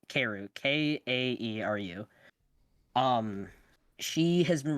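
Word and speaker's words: kaeru: her her tag is frogs in japanese uh keru i'm sorry if i'm not pronouncing that wrong lexi but it's it's keru k-a-e-r-u um she has been running events in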